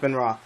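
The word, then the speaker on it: Benoist: name Ben ra this it's pronounced Ben ra Ben ra yeah like Chris Ben ra okay sure whatever you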